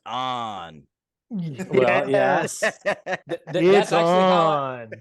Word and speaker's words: Itson: It's on. That's how I tell people to pronounce it, because they're all, is it Itson? Is it Itson? So I just say it's on.